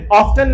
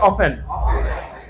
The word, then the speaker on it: often: সবাই আমার সাথে বলো, অফেন, অফটেন, অফেন, অফটেন। এটার কয়টা উচ্চারণ হয়? চারটা স্ট্যান্ডার্ড, ব্রিটিশ আমেরিকান সব মিলাই চারটা স্ট্যান্ডার্ড, ঠিক আছে?